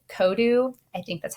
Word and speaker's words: Kodu: All right, and the last thing I'm going to show you is a free download from Microsoft called Kodu. I think that's how you say it. It's Kodu.